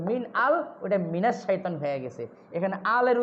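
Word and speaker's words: مِنَ الشَّيْطَانِ: শামসিয়া যেগুলো, ওগুলোর আগে আল থাকলেও লামের উচ্চারণ হয় না, সরাসরি ওই অক্ষরটার উচ্চারণ হয়। এই জন্য মিনাল শাইতান না হইয়া মিনাস শাইতান হয়ে গেছে।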